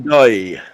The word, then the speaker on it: Ndoye: Dan Ndoye.